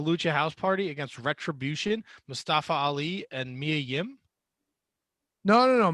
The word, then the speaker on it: Mustafa: Tony, it's pronounced Mustafa.